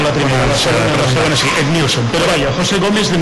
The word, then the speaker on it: Edmilson: Ah, ¿y el sobrenombre Edmilson cómo se pronuncia? Edmilson. Sí. Vale, o sigui que ho hem dit bé la segona vegada i no la primera. No la primera, la segona sí, Edmilson.